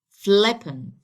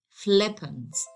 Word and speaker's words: flippant: So I have to stress the first syllable of this adjective. So I have to make it here. And I pronounce it as flippant, flippant.